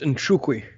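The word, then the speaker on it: Nzechukwu: It's pronounced Nchukwi.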